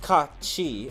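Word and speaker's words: Cait Sith: Kate Sith is pronounced Ka-Chi, and then Kusith, which is literally C-U, and then Sith, S-I-T-H.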